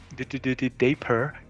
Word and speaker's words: Dapper: You were so close to pronounce it like I do it. Dapper. Yeah, but there's no day in there. Dapper.